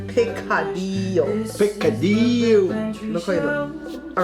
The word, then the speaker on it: picadillo: All right, we'll say it like the way the Spanish people say picadillo.